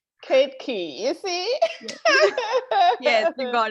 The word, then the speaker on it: Ketaki Vaidya: I believe it's Ketaki. So come on, let us know your name. Sure. So my name is pronounced as Ketaki Vaidya, and I get that it's very difficult for people to pronounce. Ketaki, you see?